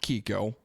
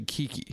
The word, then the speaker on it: Kiki: So it's not Kiko. I've been saying her name wrong the entire time. Her name is actually Kiki.